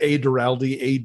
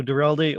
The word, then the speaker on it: Duralde: But if you want to follow me, on Twitter at @Duralde, ADURALDE, I link to all the stuff I'm doing.